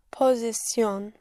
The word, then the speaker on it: posición: Posición. Posición. You are only allowed one stress, yes.